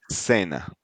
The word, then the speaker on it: cena: we are in America, we pronounce it as an S, so it will Okay. be cena, Cena. centro, Centro. yeah. So if you go to Spain and you hear that, they will pronounce it like yeah. Okay. We will say lenguisopas, because they have a lisp, a Mm-hmm.